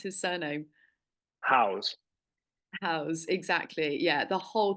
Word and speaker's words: Howes: I never know how to pronounce his surname. House.